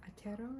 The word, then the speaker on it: Aotearoa: And then planetarium, I actually watched a short movie, it was 45 minutes or so, about New Zealand, or Aotearoa I think is how you pronounce it, and just the differences